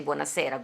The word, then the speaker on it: buonasera: with your brain, because buonasera is the way to say buonasera, good evening. Okay, good. So I was saying it right. You are saying it right. I saw that you said buonasera, because that's a Neapolitan kind of thing, but you said it properly, buonasera.